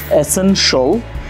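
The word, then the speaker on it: essential: For example, শিয়ালের পরিবর্তে যদি আপনি শল বলেন তাহলে ওয়ার্ডসগুলো হয়ে যাবে এসেনশল, কমার্শল, রেসিডেন্সিয়াল, পটেনশল, ফাইন্যান্সিয়াল।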